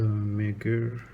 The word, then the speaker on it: Megir: introduce you to it it's a Meer I think that's how you pronounce it it's Meer automatic it's made in